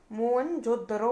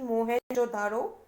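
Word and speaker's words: Mohenjo-daro: इसे हम मोहनजोदड़ो प्रोनाउंस करते हैं, ना कि मोहनजोदारो।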